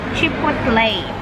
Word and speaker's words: chipotle: chipotle chipotle binasa ko kasi ' ba ang pronunciation ko do is chipotle gugel ko syempre ito siya oh chipotle tapos which comes from chill pole meaning smok